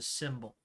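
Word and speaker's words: Simbul: run by a woman known as the symbol and that's spelled s-i-m-b-u-l um she lives in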